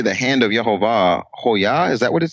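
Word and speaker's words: הוֹיָה: in the feminine form, and hoya, and it rhymes with the name Yehovah.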